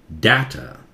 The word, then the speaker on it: data: ठीक है, data, काफी सारे लोग आजकल डाटा और डाटा दोनों बोलते हैं, वो भी एक्सेप्टेड है. मैं बहुत अच्छे अच्छे डिक्शनरी में देखा, ये सबसे पॉपुलर प्रोनाउंसिएशन है डेटा.